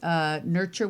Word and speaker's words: Nurxur: It's Nurture with an X, so you spell it.